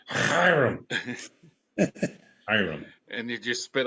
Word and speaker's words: Hiram: I think maybe it's more like Hiram. I can't do the guttural thing.